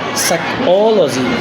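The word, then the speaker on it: psychology: Number 3, rule number 3 stress দেওয়া, যদি কোনো ওয়ার্ড LOGY দ্যাট মিনস লজি দ্বারা শেষ হয় তাহলে তার পূর্বের সিলেবলের উপর আমরা স্ট্রেস দেব। যেমন biology, biology, biology, biology, biology, সাইকোলজি, সাইকোলজি, সাইকোলজি।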